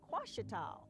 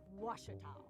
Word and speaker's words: Ouachita: Some folks think the O is a Q and they say Quashita. Hey, Ouachita. Ouachita. Back in Texas, everybody pronounces it Wichita, but really, it's Ouachita. Washita.